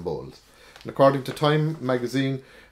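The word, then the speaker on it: Bolles: that's spelled b.o.l elias i don't know how to pronounce name but that's it's spelled b-o-l-l-e-s so i'm going to call them bowls and according to time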